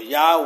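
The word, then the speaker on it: Yahweh: dice que el Eterno el padre o yahw como se pronuncia su nombre en hebreo los bendiga grandemente sobre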